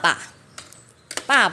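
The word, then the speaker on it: 爸爸: Chữ này đọc bơ, a, ba, sư sân, ba. Nhưng chữ thứ hai sẽ không đọc là ba nữa, mà bị biến thành âm năm. Trên đầu có một cái dấu chấm.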